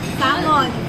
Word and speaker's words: salmon: Salmons. It's Silent L siya actually.